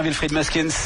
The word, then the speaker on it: Wilfred Muskens: Wilfried Muskins, je prononce bien Wilfried Muskins.